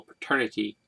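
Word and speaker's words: Paterniti: in my life though it is spelled p-a-t-e-r-n-i-t-i as opposed to the y at the end like the actual term paternity it still sounds the same um just very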